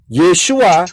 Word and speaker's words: Yeshua: tadi ya paham ya jadi yesua y e s h u a itu adalah cara pengucapan nah begitu pula manakah